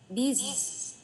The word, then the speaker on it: business: Business. Lạ. Business. Âm này có một âm hẳn hoi là âm G chứ không phải là âm Z.